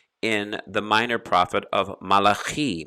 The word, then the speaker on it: Malachi: the minor prophet of malachi malachi or you might pronounce it as malachi 3 8 will a